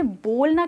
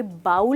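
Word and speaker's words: bowl: That's right दोस्तों, ये बाउल नहीं है, ये बोल है।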